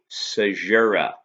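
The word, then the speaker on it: caesura: type of lineation to analyze is called a sajura that's how it's pronounced it's spelled c-a-e-s-u-r-a-s and again in jammin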